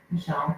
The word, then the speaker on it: Michal: Well, my name is Michal, and it's pronounced Michelle, but spelled Michal, so it always throws everyone off.